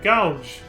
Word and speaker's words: Goug: what can only be the clockwork city of gouge that's how you pronounce it i remember that place that place